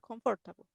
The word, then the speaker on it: comfortable: Ah, or unless I exactly, take a shower, eh, I don't feel comfortable. exactly, I don't feel. Esta palabrita es un poquito difícil de pronunciar, pero solamente se lee esa O no se lee.